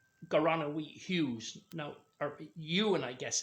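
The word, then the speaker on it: Ieuan: Now, or Ewan, I guess it is, I-E-U-A-N. And Ewan translates to John, and AP means the son of.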